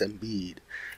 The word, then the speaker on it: Embiid: And I know how to pronounce Joel's last name. It's Embiid. So you know what, that's a good thing.